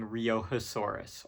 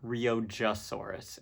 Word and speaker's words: Riojasaurus: All right, we've got another Triassic sauropodomorph up next being Riojasaurus or Riojasaurus if you're me.